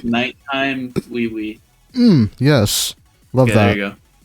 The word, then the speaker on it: Oui: It's spelled like I think the French word. We. No, like OUI. Oh yeah. No, yeah. It's called Nighttime Wee.